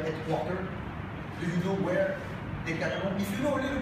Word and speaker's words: Decathlon: That Decathlon today, whatever you pronounce it, I pronounce it the French way, so Decathlon.